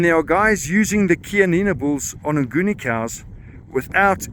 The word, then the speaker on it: Chianina: But a more interesting fact, and something I only saw last night, is that the Chianina, or Chianina as I pronounce it, is seen as being the oldest breed in the world.